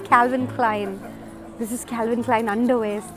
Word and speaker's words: Calvin Klein: So this is pronounced as Calvin Klein.